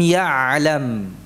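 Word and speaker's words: يَعْلَم: Jadi suaranya mengalir dengan aliran sedang. Jadi jangan dipangkas atau jangan terputus suaranya. Ma lam ya'lam. Nah. Ain ya masih tetap mengalir, ya, dengan aliran yang sedang. Ya'lam. Ya, jadi tidak macet.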